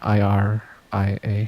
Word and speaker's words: Iria: The first thing was I watched this OVA called Iria Zyrum the Animation, which is an old from like the 80s, I think. It's this like sci-fi fantasy. Go Iria IRIA.